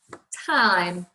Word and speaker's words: time: So we go t, I, It's not it, it's t, I, That makes it an I sound. T, I, time.